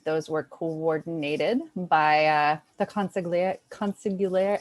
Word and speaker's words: consigliere: And those were coordinated by the consigliere.